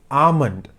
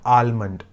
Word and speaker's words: almond: that another word is a-l-m-o-n-d it's almond it's not almond L is silent almond so a lot